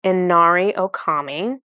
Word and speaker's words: Inari Okami: me make sure I say her name correct Inari Okami inario Kami starts working on the Stellar Gateway